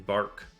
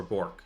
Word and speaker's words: bork: now to get to bark so or bork sorry I pronounced it wrong I'm I'm a little